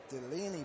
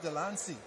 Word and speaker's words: Delancey: the Providence team um she passed it as Jesse Delaney but he's actually Jesse Delancey Delancey okay so he